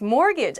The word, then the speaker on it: mortgage: the next word is mortgage ah my students messed up this word mortgage like last week in class mortgage has a t in it but we don't say the t it sounds like mortgage